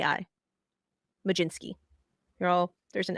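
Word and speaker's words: Mlodzinski: l o d z i NSK k i Majin Sky you're all there's an l and a D in there Susie I know Maj jinsky that's how it's pronounced Hunter Stratton Carmen Carmen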